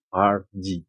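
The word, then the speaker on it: Hergé: Jadi kalau di inisialnya itu seharusnya GR. Oh iya benar. Oh dibalik ya? Iya, akhirnya dia balik. Tapi pronunciation-nya jadi RG. Iya, pronunciasi secara Prancis ya kalau nggak salah.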